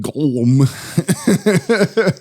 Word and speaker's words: Golem: his own hands through a glm construction robot pronounced goem yeah I was like